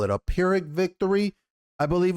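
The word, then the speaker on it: Pyrrhic: of the word uh it's p y r r hi i c k so I think it's peric victory but it's a victory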